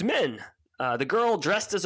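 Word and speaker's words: Min: love the character of men yeah i love the character of men by the way but her name is confusing it is because so it is m-i-n and it's pronounced like m-e-n and it's not cool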